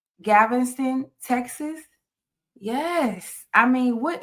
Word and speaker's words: Galveston: And am I saying it right, Geezy? It's Galveston. Yeah, you're saying it right. Galveston, Texas.